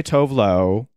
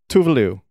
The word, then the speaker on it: Tuvalu: have talked about that americans say tov low even if it's tuvalu and she herself has said it in this little clip here you can hear how it's actually pronounced by her herself tuvalu and i think like